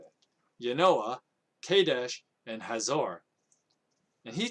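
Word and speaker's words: Janoah: In that time of Pekah, king of Israel, Tiglath-Pileser, the king of Assyria, came and took Ijon, Abel-Beth-Maachah, Yanoah, that's how you say it, Yanoah, Kadesh, and Hazor.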